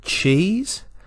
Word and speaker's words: cheese: Our SE is making the Z sound, so there is no vowel sound with the E at the end. The only vowel sound is in the ch-e, one vowel sound, one syllable.